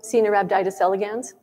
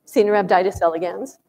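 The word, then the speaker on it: Caenorhabditis elegans: This is the tiny nematode worm, C. nerabditis elegans.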